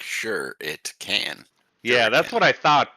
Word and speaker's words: shuriken: So, you accidentally get hit by a a shiken or a seren shuriken. I believe like sure it can.